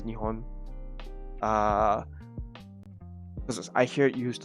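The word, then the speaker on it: 日本: I guess some people say it differently, but for me, I think the actual correct way to say is Nihon. Because I hear it used a lot more than Nippon.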